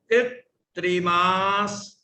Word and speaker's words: कृत्रिमास: क्री आधा त, फिर र में ई की मात्रा है। कृत्रिमास, आधे से को पहले बोलना है।